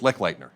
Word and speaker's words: Leitner: Did I say it right? Leitner? That's close, Leitner. Leitner, I'm sorry.